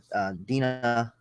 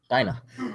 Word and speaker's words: Dinah: After that, Dina, I pronounce her name? Dina? Dinah. Dinah felt like I didn't need her anymore, and the birds of prey disbanded.